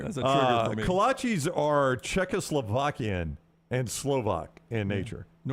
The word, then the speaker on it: kolache: I don't even know if I said it right. No, you said it right. Kolache is right.